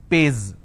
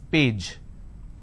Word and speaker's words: page: If I have the word which is page, they pronounce this as pays. It's not pays, it's page.